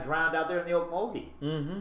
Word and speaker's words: Okmulgee: Yeah, that's Well, the at least we actual pronounce name. it right. Okmulgee.